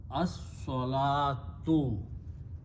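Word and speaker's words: الصلاة: So the pronunciation is as-salatu. Alif combines with the swad, lam is not pronounced, it is only written there without any harakat. So it is as-salah, don't pronounce the waw.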